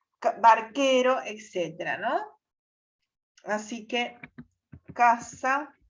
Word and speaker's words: barquero: Ante las vocales E, I, el sonido K se representa mediante la consonante Q seguida de U muda. Nunca se escribe Q sola, ni nunca suena la U cuando acompaña a Q.